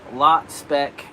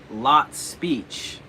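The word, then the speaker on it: Lotspeich: Lot Spec. For your information, my name is pronounced Lot Speech.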